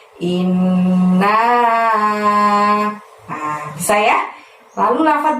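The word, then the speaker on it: إنّا: ke-1 dimulai dengan lafaz inna. Nah, innya ditahan dan ditekan selama 2 harokat ya, karena ada nun tasydid di situ. Kemudian naknya panjangnya 5. Nah, seperti itu. Jadi membacanya inna.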